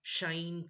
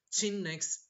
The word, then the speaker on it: sinh: So, sine cos will sound like shine, cosh, tan, cosec, cot, and sec. But actually, this is the proper way to pronounce the hyperbolic function. But the American mathematicians, they call a little bit different. They call this as sinh x, cosh, tanh, etc.